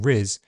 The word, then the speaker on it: rizz: Starting with a smooth alveolar r, it moves to a near-close, near-front I, and ends on a voiced z.